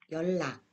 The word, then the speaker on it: 연락: 어떻게 발음되는지 같이 읽어보겠습니다. 편리, 편리해요. 연락, 연락하세요.